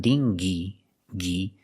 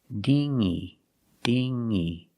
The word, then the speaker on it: dinghy: don't be late again we don't pronounce the good it's not dingy ghee it's dingy dingy using the sound in your nose this is a